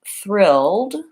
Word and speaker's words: thrilled: I'm saying three-year-old okay so probably you've noticed right away that thrilled does not have an e sound so oftentimes when we